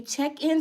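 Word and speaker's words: Checc'n: I was like, Snoop Dogg made a check-in song? Y'all, the check-in song, and I thought it was spelled Check, but no, it's spelled Checc apostrophe N. Check in.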